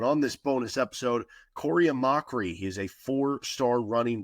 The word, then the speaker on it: Amachree: So Kory Amachree, I believe that's the pronunciation, Amachree there. Could be wrong though.